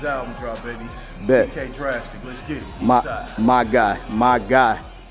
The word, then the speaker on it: Draxtik: It's Draxtik, but I spell it different because I'm unique like that.